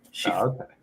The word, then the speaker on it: Shifu: So Shifu, that means master, Mm-hmm. and one of the characters is named like that. Shifu.